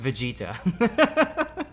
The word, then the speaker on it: Vegeta: for me as well yeah afraid not it's pronounced vegeta whatever well yeah okay i was trying to